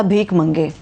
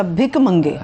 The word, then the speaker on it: بھک منگے: IMF programme کے اوپر بات ہو رہی تھی، آپ نے کہا تھا بھیک منگے. امداد لیتے ہیں، امداد میں کیا ہے؟ بھک منگے. پہلے اپنا تلفظ تو ٹھیک کریں. اچھا بھک منگے.